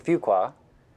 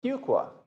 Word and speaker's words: Fuqua: That's not one qua, it's not two qua, it's a Fuqua. That's what my 10-year-old told me to remember how to pronounce the school's name. Fuqua.